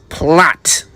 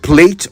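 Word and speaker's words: plait: But it's plat if you're speaking English and plate or play if you're speaking American.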